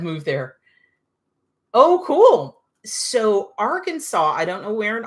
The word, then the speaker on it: Arkansas: Martha, you had to learn how to properly pronounce Arkansas now that your daughter's babies have moved there. Oh, cool. So, Arkansas.